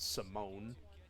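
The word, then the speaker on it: Simón: Then after around 2010, it was Alfredo Simone, or Simon, but they pronounce it Simone.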